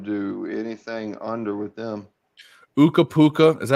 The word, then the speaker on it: Ukko-Pekka: Uka-Puka. Is that how you say his name? Uka-Puka Luukkonen? Ukko-Pekka Pekka Luukkonen.